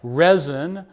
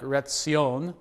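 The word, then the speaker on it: Rezin: the king of Syria resin re e z i n probably pronounced more like Rion um Syria is another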